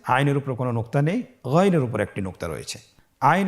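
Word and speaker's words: غين: ছাড়া বলুন আবার বলুন গন হরফটি মোটা অক্ষর উচ্চারণ করার সময় অবশ্যই মোটা করে বলতে হবে আইন এবং গন হরফটি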